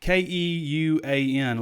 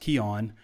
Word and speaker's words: Keuan: good in that Razorback Jersey it looks like ke uan looks like qq1 but it's pronounced kyon so yeah nice pickup here number four hundred